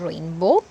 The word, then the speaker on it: rainbow: and in due dew so when a word ends with letter w we have to understand that sometimes the w is silent as in rainbow sometimes it is wor